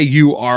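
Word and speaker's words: Oquirrh: and like came up cuz it's not okay u r r r o q u i r h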